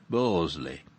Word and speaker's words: Bursley: in the fifties when everybody throughout the five towns pronounced bursley barsley as a matter of course in the tedious and